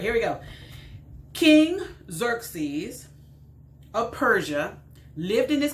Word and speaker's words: Xerxes: not really hilarious but let's just learn xerxes okay xerxes xerxes that's how it's hanging how you pronounce that word xerxes all right so uh